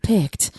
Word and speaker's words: Pict: And that's how I looked it up on Google how to pronounce it. And it is Pict.